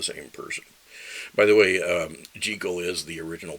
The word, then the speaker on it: Jekyll: Jekyll rhymes with heckle, and that kind of took over, at least for us Americans, as the main pronunciation.